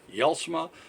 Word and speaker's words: Jelsma: this very simple it's yell smih yells medCom and it says yells Montcalm actually our email is y'all smile at yell Sarang calm and the J's pronounced like a y but is je LS